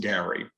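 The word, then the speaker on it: garry: on in the novel characters refer to the gary g-a-r-r-y and what that is is gallery so if you think about the gallery in front of a house they would pronounce it gary um and so you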